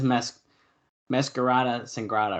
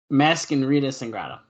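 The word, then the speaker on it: Mascarita Sagrada: And this is Masquerada Sangrada, or what is it, Matt? Hold on. Masquerita Sangrada.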